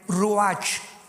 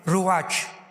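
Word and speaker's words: ruach: Apunten todos ustedes los que les interesa en su Biblia la palabra espíritu, que es la palabra se escribe ruash. R u a c h. Ruatch.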